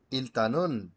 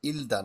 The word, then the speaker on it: 일단: ইলদান, এটাকে ওরা বলে ইলতান, ইলতানুন হানগুগে, ঠিক আছে? ইলদান না, হবে এটা ইলতান।